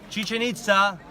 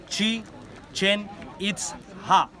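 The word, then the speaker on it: Chichen Itza: this is the mean this is the correct pronunciation sheet change its up right now chichen-itza it is part of the Mayan language you know that word is in mine chi-chan it's ha what is the meaning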